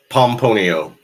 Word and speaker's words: Pomponio: Is it Pomponio? Pomponio. Pomponio. I gotta have Sounds just like it's spelled.